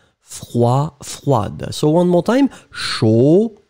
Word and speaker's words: froide: pronounced, froid, and then feminine form, because you add this you will pronounce the d in the end. So masculine form froid, feminine form froide. Froid, froide.